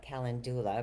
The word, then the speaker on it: calendula: And calendula, I like to call it calendula because it's spelled similar to calendar, only with a ULA at the end.